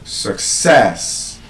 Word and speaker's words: success: And the reason it is pronounced that way is because, again, that schwa sound appears in the first syllable. And like I've said, when we have the schwa sound, we cannot stress the syllable that has the schwa sound. So instead of success, the stress becomes passed on to the second syllable, success.